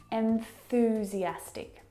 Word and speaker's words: enthusiastic: Start with the first syllable. N. Where is your tongue? What's it doing on that final consonant sound? N. It's at the top of your mouth.